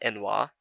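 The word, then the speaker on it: n'wah: SL like yikes but inoa has transcended morind insult communities now my preferred pronunciation is enoa I've heard someone say no I don't really care choose one and stick to it so hope you've enjoyed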